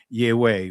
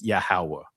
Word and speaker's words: Yahawah: to throw it here, Yahweh, right? But actually, in ancient Hebrew, you guys know how it is pronounced is Yahawah, right?